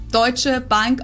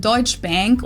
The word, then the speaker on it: Deutsche Bank: Deutsche Bank also literally means Bank from Germany.